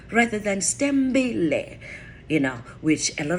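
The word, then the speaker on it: Sithembile: s-t-e-m right rather than stem belay you know which a lot of people will expel that s i t h e m b i l e stem the i and the h are silent so it's pronounced s-t-e-m-b-i-l-e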